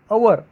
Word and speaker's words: hour: Hour, an hour, the word begins with h, h is a consonant, but while pronouncing the word HOUR, the pronunciation begins with O, that is a vowel,